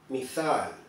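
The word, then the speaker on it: مثال: Arquetipo en árabe se escribe y se pronuncia mithal.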